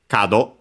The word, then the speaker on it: 門: There are several strictly Japanese readings, kunyomi, but the one actually used, and even then relatively so, is kado. Should be accented. Yes, on the first one, okay.